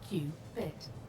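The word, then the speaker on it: qubit: One quantum bit of information is known as a cubit, pronounced Qbit.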